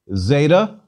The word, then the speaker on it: zeta: equivalent to z but zeta buzzes more in greek because we should insert a d sound as well tactically z d as in mazda but it's a lot easier to say dz which is what i generally do what can i